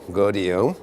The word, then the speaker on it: Gaudiot: You pronounce it like rodeo, GAUDIOT.